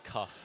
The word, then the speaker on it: Kaufman: We've got Kaufman getting ready to serve. Kaufman. You're saying with a C. It's cuff, like a shirt cuff. It's cough. Cough. Cough. Like with you have to pronounce the K.